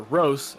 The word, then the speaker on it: Roos: Christian Roos, or Rose, as I've been told that it's pronounced now, he finished fifth, a